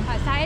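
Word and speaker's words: Hỏa xa: I know the cafe, but how would you pronounce that? Ho or Hoa Sa. Hoa Sa? Hoa Sa is like train.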